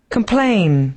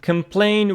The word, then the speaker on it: complain: so the first one complain complain with the stress on P the second syllable as most verbs carry